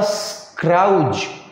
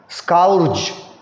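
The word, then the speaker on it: scourge: यहाँ पे ये पैराग्राफ जो शुरू कर रहे थे, डिस्पाइट सच अ स्क्राउज, अब ये सॉरी स्काउर्ज, इसका स्पेलिंग देखना, कॉमन वर्ड नहीं है मगर अगर सीख जाओ तो बहुत बड़ा इम्पैक्ट डालेगा.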